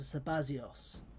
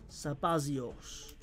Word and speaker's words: Sabazios: If you want to read in the rather particularly antiquated pronunciation of Zeta. Because Zeta used to sound more like a Z before it eventually became to just turn into a Z.